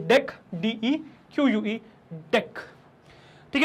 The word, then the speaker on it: deque: तो DEQUE, तो DEQUE pronounced as DEQUE, बहुत इंपॉर्टेंट है इसका प्रोनाउंसिएशन। इसको DQ बोलते हैं लोग, और इसको उस DQ से कंफ्यूज कर जाते हैं जो हमने पढ़ रखा है, विच इज DEQUE।